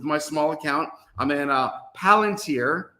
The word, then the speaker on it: Palantir: So if I'm in any tech-related stocks and I'm in a couple positions with my small account, I'm in Palantir. I won't pronounce it Plantier because somebody got upset at me because, yes, I called it the peanut company.